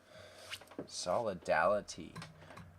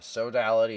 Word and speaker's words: sodality: not just Maryland sodality okay so I'm pronouncing it wrong the sodality of our Lady also